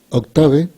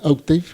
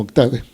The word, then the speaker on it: Octave: voy a a mostrar octave que está mal pronunciado pero así lo pronuncian en español en realidad Debería ser oave en inglés pero bueno la mayoría lo conoce como octave es un software que